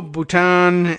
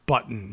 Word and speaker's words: Bhutan: this very well no Bhutan independent Kingdom not part of India not pronounced button nipple and button this